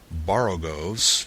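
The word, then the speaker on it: borogoves: rhyme with Groves again the first o in barrogos is pronounced like the O in borrow I have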